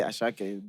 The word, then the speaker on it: Asake: But bro, the fact that it's written as Asake, but I have to say Ashake disturbs me.